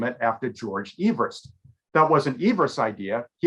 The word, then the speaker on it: Everest: It's not Mount Everest to most people. Of course, it's Mount Everest.